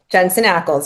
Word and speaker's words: Jensen Ackles: Is it Ackles? Is that how you say it? Yeah. Jensen Ackles.